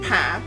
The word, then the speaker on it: pain: a i n uh in English but it's pronounced p and most French people do eat bread daily